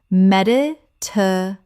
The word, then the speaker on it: Mediterranean: Med-it-er-a-ni-en. Correct pronunciation. Mediterranean. Mediterranean. 6 syllables with the stress on the fourth.